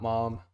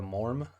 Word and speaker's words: Mam: It's not mom. It's not ma'am. Somebody in the comments said that it's pronounced with an R sound, but I don't know if that was the English phonetical R. So Laura Morm, almost.